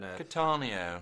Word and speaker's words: Cattaneo: I know it's directed by Peter Cattaneo, whatever you want to pronounce it, from The Full Monty, and then... Cattaneo.